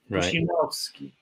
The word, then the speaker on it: Prusinowski: And Polish accent is regular on the syllable second from the from the end. Prusinowski, Kowalski, Zamiata, Pamięta.